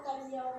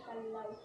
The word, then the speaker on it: Callao: May tatlo pong pronunciation. First po, kalyaw, kalyaw, kalyaw. Ang kalyaw means po ay nasa Spanish word means po, peaceful tamang quiet village. Yung kalyaw naman po, yun yung Rufus Hornbill. Yan ano siya. At ang totoong pronounce ko dyan ay kalaw.